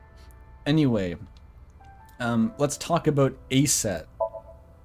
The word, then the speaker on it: Aset: Anyway, um let's talk about Aset. Horus's mom is named Isis, but in ancient Egyptian, it's pronounced closer to Isa or Aset.